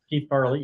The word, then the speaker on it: Keith Farley: Santa, voiced by, is it pronounced Keith Farley? Keith Farley, yeah.